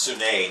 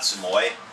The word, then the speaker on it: Suomi: The Suomi, I believe it's pronounced Sune, not Sumoy.